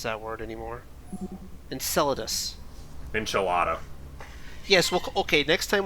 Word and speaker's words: Enceladus: all next time when we go to uh encephalus i have no idea how to pronounce that word anymore enceladus enchilada yes okay next time we'll call the